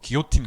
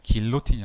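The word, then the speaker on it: guillotine: 프랑스어 읽을 때 LL이 있으면 Y 발음이 나요. 이런 거 많죠. 기요틴 같은 거. GUI LLOTIN인데 길로틴이 아니라 기요틴이죠. 예, 어쨌든 이런 베르누이 방정식은 베르누이 이퀘이션이 어떻게 생겼냐면 이렇게 생긴 이퀘이션입니다.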